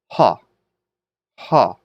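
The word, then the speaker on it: ὁ: So what does the rough breathing mark do? That's right. It gives it sort of an H sound. So ha, ha.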